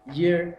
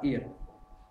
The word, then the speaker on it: year: When you say year, you should actually use year and not ear.